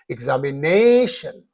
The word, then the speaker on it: examination: So here uh the rule says in the words ending in io n the last but one uh syllable receives the stress. Therefore you have to say examination.